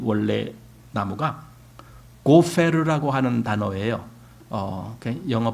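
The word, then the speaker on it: גֹּפֶר: 이 잣나무라고 하는 이제 우리말 잣나무로 된 이 원래 나무가 고페르라고 하는 단어예요. 영어 발음은 gopher 이렇게 하는데 이 고페르라고 하는 이 나무는 성경 전체에서 여기밖에 안 나와요.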